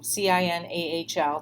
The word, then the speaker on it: CINAHL: the question was what distinguishes cinahl that's a c-i-n-a-h-l typically pronounced cinahl so what distinguishes that from other